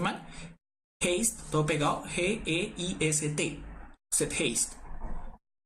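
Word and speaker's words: Zeitgeist: Se llama Set Haste.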